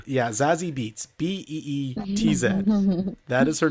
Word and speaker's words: Beetz: So, the Zazie Beetz, like it's her last name is spelled. Is that a real name? Yeah, Zazie Beetz, Beetz.